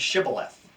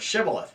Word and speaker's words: shibboleth: of the letter H they struggled with their H's and so they had difficulty pronouncing the word shibboleth so when they would